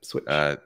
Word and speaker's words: Swytch: Swytch, that's how you pronounce it, right? Yep, switch.